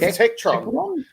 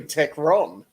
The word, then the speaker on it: Tekron: Yeah, with Tektron. With Tektron. It's actually Tekron. Matt did say it right.